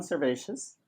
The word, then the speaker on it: Servatius: he is conservacious cervacious did I say it right you did you said a perfect it's been such a